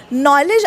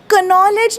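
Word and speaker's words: knowledge: नॉलेज आपण कनॉलेज नाही म्हणत नॉलेज के सायलेंट आहे.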